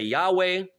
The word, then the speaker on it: Yahweh: At the very best, all you can say is that that is just one possible pronunciation that you can use the same as any other one. You can say Yahweh.